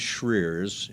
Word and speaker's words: Schreurs: So, my name is Shreers. It's slaughtered in terms of pronunciation.